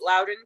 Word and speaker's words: Loudoun: tonight i know you are from uh it's loudoun county and that's how you say it right